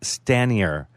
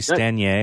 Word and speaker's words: Stanier: out of the way so I say Stan yer but I got it's really isn't it supposed to be Stan yay or something no youyou actually say perfectly and that puts you in about a 3% cluster people who now know how to pronounce my name I want to read